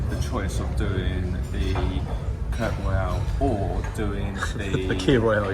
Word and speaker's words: Kir Royale: No, K-I-R. It's Kir Royale, that's how you say it.